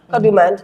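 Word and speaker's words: Kadooment: Because like when I've been there to Kadumant and doing all this stuff, Kadumant, let me say it properly, Kadumant, it really and truly is this.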